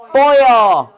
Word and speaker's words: foil: 호일이 아니라 뭐지? foil. foil. 해봐, foil. foil. 호일 아니고 뭐야?